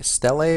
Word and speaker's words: Stele: And the Stele, or Steel, or however you wish to pronounce that, I'm going to call it Steel just because it's how I've been pronouncing it in my head.